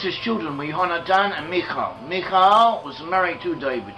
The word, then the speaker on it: Michal: He went home, he told Michal, and Michal, his wife, Michelle I suppose is one way of pronouncing it in English, Michal let him down